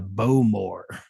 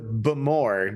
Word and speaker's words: Bowmore: it's not just any whiskey we got the bow more uh correction Dustin it is the bamore because all this is Scottish and they can't